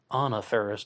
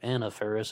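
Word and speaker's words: Faris: ferris and i believe she pronounces her name anna ferris not anna ferris and also features alice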